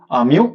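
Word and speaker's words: μ: This is pronounced as mu.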